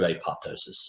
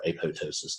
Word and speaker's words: apoptosis: in that crap it's the true apoptosis or a Poe ptosis depending on how you want to pronounce it but so these are